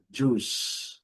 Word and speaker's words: juice: É a palavra juice. Letra I não é pronunciada. A letra e não é pronunciada. E o C com som de S.